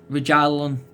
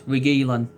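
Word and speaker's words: Reguilón: get we get regen rajalon he's out his name his surname sometimes can be hard to pronounce regelan that's it but obviously real madrid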